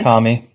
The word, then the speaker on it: Murakami: Lately, I've been listening to that Japanese writer that Jeremy always has to correct me on pronouncing his name, Haruki Harukami. Murakami.